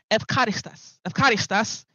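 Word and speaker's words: εὐχαριστίας: And we also looked at the word evcharistas, right? That is the actual pronunciation in the Greek.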